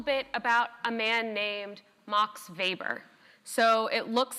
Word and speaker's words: Max Weber: So if you pronounce it Max Weber, you are not in the know. If you pronounce it Max Weber, then you are a true bureaucracy scholar and you know what you're talking about.